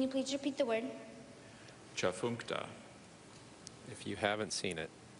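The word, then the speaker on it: Tchefuncte: Are there any alternate pronunciations? There are not. Part speech. Adjective. Can you please repeat the word? Chafunkta. If you haven't seen it, how would you ever guess it? Chafunkta. T-C-H-E-F-U-N-C-T-E. Chafunkta.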